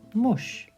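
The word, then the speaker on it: موش: So this is just mush. It's not a mush. It's mush, mush, mush, which means mouse.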